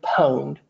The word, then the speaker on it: pwned: called have I been pwned it looks like pawn but I think it's pronounced pwned and that means hacked